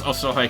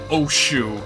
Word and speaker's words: Osohe: first played this game, I didn't know how the hell to pronounce Osohe Castle. So I'm pretty sure I started off by calling it, like, Oshu or something. Like, I thought that the S and the H were connected, but nope.